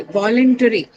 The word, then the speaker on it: voluntary: Okay, voluntary. Voluntary. Mempo. Wall. The First first syllable, right? Because it has the the ry suffix, which is uh, not neutral. It carries the stress on the first syllable.